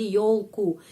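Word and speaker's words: ёлку: Tetapi di sini dalam kasus akuzatif menjadi yolku. Yolku. Huruf yo hampir selalu mendapat penekanan. Karena itu huruf yo selalu pengucapannya yo. Sama seperti dalam kata bahasa Indonesia.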